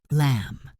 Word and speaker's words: lamb: Lamb. Silent B.